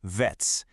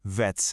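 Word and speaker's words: վեց: Six is the word vets. It's a short, crisp vets sound. You'll notice it feels like it just stops suddenly. Let's hear you say it. Vets.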